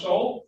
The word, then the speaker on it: Soul: And the last name is pronounced Soul? Yes.